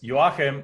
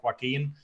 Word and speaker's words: Joachim: It's really pronounced Joachim, and then it's like on the East Coast, they know how to pronounce it. On the West Coast, they call it Joaquin.